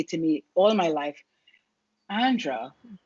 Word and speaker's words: Andrea: me all my life andra which is how my name is actually pronounced andre just breathe breathe